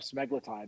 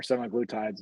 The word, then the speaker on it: semaglutide: Well, it's a form of semaglutide, which is or semaglutides, as some people pronounce it.